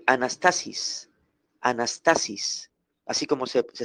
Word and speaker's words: anastasis: anas anas Ans t a s i s anastasis anastasis así como se se escribe se pronuncia y este vocablo griego griego anastasis significa literalmente ponerse de pie levantarse una persona